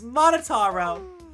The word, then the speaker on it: Monotaro: mon huh I Monaro no matter how you read it or spell it it's monotaro what the that's totally